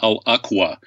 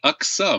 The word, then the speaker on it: Aqsa: lot of words wrong he talked about the Aqua mosque it's actually the Aqsa Mosque tun but so he's